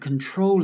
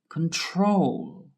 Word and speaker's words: control: The verb control is different because the stress is on the last syllable that has an L. Listen again. Control.